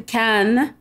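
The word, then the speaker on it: Cannes: or is it KH how do I properly pronounce this Film Festival it is the can can film festival and K C aen is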